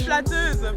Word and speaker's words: flatteuse: Flatteuse for a female. Oh, what is it for a guy? Flatteur.